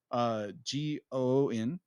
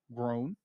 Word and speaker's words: Goon: Is going to adapt the Groon, G-O-O-N, Grown. G-O-O-N? Yeah, Grown. G-O-O-N is goon. Yeah, goon. I'm sorry. Goon. You said groon. Yeah. Goon. I'm sorry. Like, there's not an R in that word.